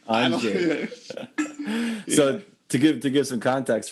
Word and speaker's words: Andrzej: And your roommate during that time at the festival was this dude from Poland who his name was also Andrew, but the Polish pronunciation Andrzej, I don't know how to Killer piano player.